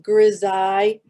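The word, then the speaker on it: grisaille: I mean that's not the spelling but it's pronounced Grizz eye and it's g-r-i-s-a-i-l-l-e the grizzai technique is where you color and draw everything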